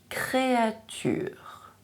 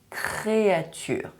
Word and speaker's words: créature: struggle to pronounce the créature. Make sure you watch this video where I explain to you how to pronounce the French R sound correctly, especially when it is in a consonant cluster, such as ciar, créature.